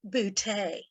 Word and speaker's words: Booty: your host bertha booty it's pronounced bootay vern enters pats or